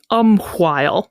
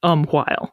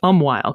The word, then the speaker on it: umquhile: it is still pronounced umquhile. But because English lost that distinction, you and I are inclined to say just umwhile, because we don't usually enunciate that H sound when we speak.